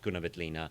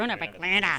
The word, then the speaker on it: Grüner Veltliner: You got to go, Grüner Veltliner. Sounds like an illness.